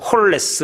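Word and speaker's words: ὅλος: 다하고 이다 라고 하는 단어가 헬라어로 홀 s 이렇게 발음을 합니다 홀 s 라고 하는건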